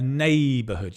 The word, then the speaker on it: neighborhood: A neighborhood. You can see the stress is on the neigh a a a neighborhood.